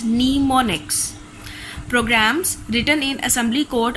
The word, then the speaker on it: mnemonics: The commands are represented in assembly language by short names called mnemonics, pronounced as mnemonics.